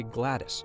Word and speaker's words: GLaDOS: of this character's name i personally have always said glados kind of like os operating system i know many people say gladys but the name itself